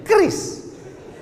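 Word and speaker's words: QRIS: Q ris cara bacanya gimana sebetulnya? Kris.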